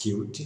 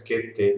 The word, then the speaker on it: Qt: Qt é a pronúncia indicada pelos desenvolvedores, pelos criadores dessa biblioteca. Qt, para relembrar a palavra em inglês cute, que quer dizer fofo, bonitinho. É bom, aqui no Brasil a gente termina encontrando mais frequentemente a pronúncia Qt mesmo, que é a que eu vou adotar aqui no curso.